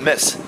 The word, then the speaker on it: Metz: الله السلام عليكم لا في هذه تكتب مات بصح تنطق ماس ماس ايه انا اشتعنا عبك على تنطقش تي هذاك الحرف تي على بالك بلي كي كتبتها في نافيغاسيون ما حبش يخرج لي ماس نقول للنافي ماس مات ما طلعهاش بعدا كي تكتبها قال لي